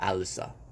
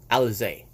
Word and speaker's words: Alizé: I meant to say Miranda Alisa. Alizé. It's Miranda Alizé. That's her name. Miranda Alizé. It's her last name.